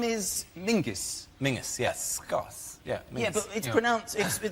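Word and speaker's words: Menzies: His name is Mingus. Mingus. Yes. Gos. Yeah. Ming. Yeah. But it's pronounced it's it's spelled M Z I S.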